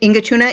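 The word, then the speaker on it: Inŋitchuŋa: Ingachunga. It's a Ingachuna. It's in Inupiat.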